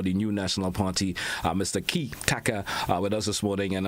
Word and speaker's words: Kitaka: Kitaka. Three syllables.